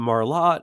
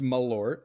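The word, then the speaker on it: Malört: He is having some Marlot. He is our friend, good old friend Chewy. Stephen Foxworthy, how are we? Doing great, Mike. It is pronounced Malort.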